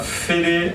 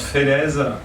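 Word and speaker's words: Félez: Moi je m'appelle Félé, mais ça se prononce Félèze, sinon ça fait con.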